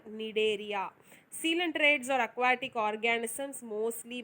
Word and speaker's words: Cnidaria: So C is silent here, Cnidaria.